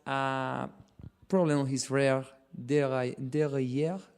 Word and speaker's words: derailleur: a puncture, but a problem on his rear derailleur. How to pronounce derailleur.